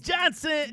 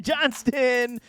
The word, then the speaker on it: Johnston: report this time on Quinton Johnson Johnston always get that man's name wrong there's an s in that name but I'm telling y'all